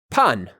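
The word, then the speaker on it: pan: banana as lettuce or carrot then we have pun drawn with these three little arrows pointing down that's spelled p a in pun has to do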